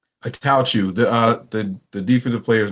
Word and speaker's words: Attaochu: Attaochu.